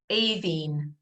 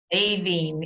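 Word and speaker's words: Aoibhinn: It's pronounced Aveen. Aveen, yeah. So the BH is a V sound in the Irish language.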